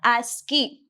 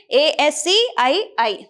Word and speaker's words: ASCII: So we have to pronounce it as what? ASCII. Okay, ASCII.